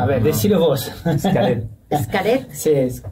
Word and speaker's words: Xcaret: Y sí, no, lo pronuncié mal, perdón. A No, ver, no. decilo vos. Xcaret.